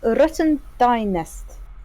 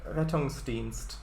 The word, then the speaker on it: Rettungsdienst: Rotten Dynest. No? Nope. Oh, nice. Not quite. Not quite. Rotten Dynest? It's pronounced Rettungsdienst. It's German and it means I'm miles rescue.